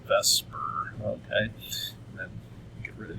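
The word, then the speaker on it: VSEPR: called ve is called Vesper Theory okay v s p I've had students in the past say that's says theer theory yes but in chemistry we kind of pronounce it like it's Vesper okay then get rid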